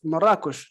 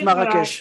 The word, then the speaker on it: Marrakesh: In Arabic, Marrakesh. Marrakesh. In French, Marrakesh.